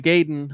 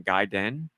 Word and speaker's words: Gaiden: We weren't thinking guy den at all and it still sounds wrong to me.